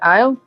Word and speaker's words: isle: s in there no no because aisle is spelled like the actual uh word is spelled i-s-l-e it's really weird that's how you how aisle is spelled it's a really